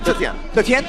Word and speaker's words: Zetian: How do you pronounce it? Zetian.